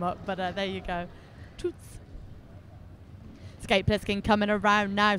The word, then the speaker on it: Toots: Toots.